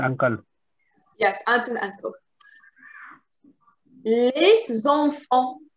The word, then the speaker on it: les enfants: Les enfants. Les enfants. Les enfants. Les enfants. Les enfants. Les Les enfants. enfants. Les Les enfants. enfants. Good. Les enfants. Okay, you don't pronounce the T.